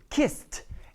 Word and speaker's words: kissed: I don't say I kissed. No, I put it in one word, kissed. And the last sound you should hear is the T.